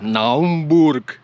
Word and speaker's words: Naumburg: Freiburg and then to Naumburg but it is pronounced Naumburg and this man is on the phone all